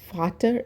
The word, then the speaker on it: Vater: Vater is father. V should be pronounced like F.